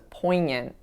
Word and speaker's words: poignant: The word is poignant.